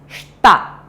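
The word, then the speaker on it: した: We write it shita, but while saying it, while pronouncing it, or while reading it, we read it as shta.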